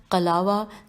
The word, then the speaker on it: قلاوہ: سوا کوئی اور طاقت نہیں ہے۔ موت کا قلاوہ تمام بنی آدم کی گردنوں میں اس طرح مناسب ہے جس طرح کسی دوشیزہ کے گلے میں گلوبند، اور پھر اچھا قلاوہ کی یہاں پہ ہجے بتا دوں، قاف لام